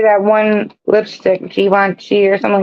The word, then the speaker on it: Givenchy: Blanc You and would think I'm Givenchy. French, but I'm not French. I'm from DSS. So And when you say that one lipstick, Givenchy or something like that, Givenchy.